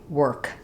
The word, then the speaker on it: work: The word work is really just like the word were plus a K, work.